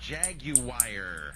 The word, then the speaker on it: Jaguar: It's pronounced Jaguar.